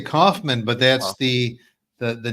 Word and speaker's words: Kaufman: hello Rob hello Steve I love the East Coast pronunciation of my last name it was it was is awesome what what is it really how do you say it I say Kaufman but that's the the